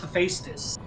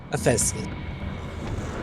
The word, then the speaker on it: Hephaestus: Okay, it's pronounced Hephaestus. Hephaestus.